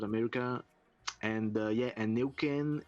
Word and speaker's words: Nuequén: word from chile yeah actually it's um so new can groove that's the pronunciation and it's actually from the mapuche tribe